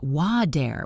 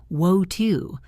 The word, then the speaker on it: water: In American English, it sounds a bit like wa-der with a hard D sound. In British English, it sounds more like wo-two with a crisp T sound.